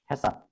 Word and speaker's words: HACCP: এটা কেন বলি হ্যাসাপ বলে, অনেকে হ্যাকআপ বলে, আমাদের দেশের যেহেতু সি কে অনেক সময় কে উচ্চারণ করে, কিন্তু যেমন আমরা কন্ট্রোল বা করি সেই জন্য মানে হ্যাকআপ বলে, আবার অনেক জায়গায় হ্যাসাপও বলে।